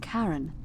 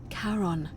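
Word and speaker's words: Charon: it's just as you described it only your pronunciation is a little off the name you heard wasn't car it was c h a r o n as in karon the Fairman of the Dead karon who in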